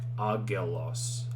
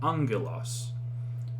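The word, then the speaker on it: ἄγγελος: by side like this so there's this word angelos right okay alpha gamma gamma epsilon lambda omicron sigma okay so if you were to just pronounce this like you see here would be like agelos but when there's two gammas beside each other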